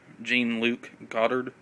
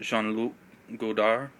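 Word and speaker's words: Jean-Luc Godard: you say it and different people say his name different ways gene luke goddard i usually call him sean lu goldar band of outsiders the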